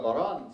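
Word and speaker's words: bodhrán: this is an Irish drum it's called a bar on spell vo th RA and it's spelled that way because in Ireland every jealous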